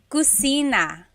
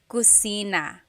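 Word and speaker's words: kusina: So in Tagalog there is no letter C. So in Spanish if it's spelled with a C. Usually in Tagalog it's spelled with a K because there's no letter C naturally found in the Tagalog alphabet. So the cosina is the kitchen.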